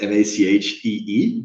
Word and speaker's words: Machi: My name is Machi. It's kind of pronounced Macchee, but Mati is also fine, or Matty, however you guys want it.